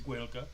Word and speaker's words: Gaeilge: I've done a few clips on Gaeilge, which is the Irish language, and that's how it's pronounced in the Irish language, is Gaeilge.